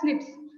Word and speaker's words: SNPs: So single nucleotide polymorphism, pronounced as SNPs.